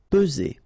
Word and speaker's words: peser: Peser. Okay, remember first p, and then z. Only one S here between the two. Peser.